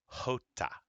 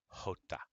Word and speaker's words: jota: Now the J makes a h, like an H. A J is kind of like the Spanish version of our H. So this is pronounced Julio, jalapeno, jota.